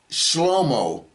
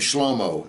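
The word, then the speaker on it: שְׁלֹמֹה: lamed me V and his name is not pronounced Solomon in Hebrew okay his name is pronounced slomo and you'll be there's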